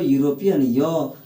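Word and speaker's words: European: यूरोपियन हो गया अर्थात इसको यूरोपियन नहीं पढ़ते हैं इसको यूरोपियन योर क्या है कंसोनेंट है तो ए यूरोपियन होगा ना की एन होगा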